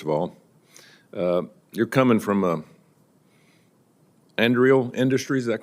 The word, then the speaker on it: Anduril: You're coming from Anduril Industries, is that correct? Is that how you pronounce that? Anduril, Senator, yes.